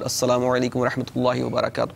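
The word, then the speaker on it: السلام عليكم ورحمة الله وبركاته: Like you'll be talking about Assalamu alaikum wa rahmatullahi wa barakatuh. That's a proper pronunciation of the salam, proper way to say salam.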